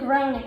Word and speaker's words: Negroni: This is, I'm going to say it wrong. How do you Negroni? say it? Negroni, and it's an Italian drink, right?